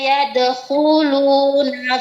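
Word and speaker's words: يدخلون: Nah, waritasa yadkuluna fiinillahi afwaj. Nah, ulangi Bu. Huruf K lebih jelaskan dan lebih tebalkan. Yadkuluna.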